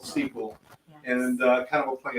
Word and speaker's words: Seaquell: it like so that's s EA q l l Sequel and kind of a